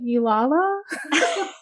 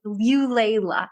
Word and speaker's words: Eulayla: When they see it on my arm, they're like, Eulala? No, that's not and they probably don't even like realize it's a name. Granny Eulayla. Okay, I love that so much.